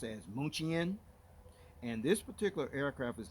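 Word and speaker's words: München: of the aircraft you see there it is pronounced as moochie in and this particular aircraft is named after this historically german city which is called mnuchin which is actually pronounced as munich in the english language which was actually founded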